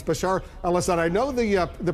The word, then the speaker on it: Bashar al-Assad: charge Bashar al-assad I you've mispronounced his name a few times uh but uh it's Bashar alad I know the uh